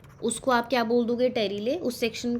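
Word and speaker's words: pterylae: मैं यहाँ पे आपको बता देती हूँ, देर इज समथिंग कॉल्ड टेरिले, ठीक है, पी साइलेंट.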